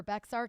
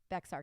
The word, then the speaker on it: Bexar: in loan limit for bexar county i mean that that is huge right and i think that they actually say bahar county in texas i think i'm even saying it wrong and i'm sorry guys